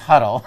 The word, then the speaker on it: Hodel: First of all, it's Huddle. So already I'm offended. Huddle. Huddle. Huddle? Yes. It's spelled H-O-D-E-L.